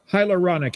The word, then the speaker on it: hyaluronic: Hyaluronic acid and quercetin kind of work together, right?